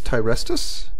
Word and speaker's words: Tyrestus: Alrighty folks, what an event, and we have the event leader here, and that is Tyrestus. Did I pronounce that correctly, sir? Yeah, yes you did.